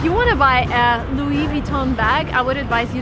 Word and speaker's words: Louis Vuitton: of the shop is Louis Vuitton again everything is French come on so everything needs to be pronounced in the French way if you want to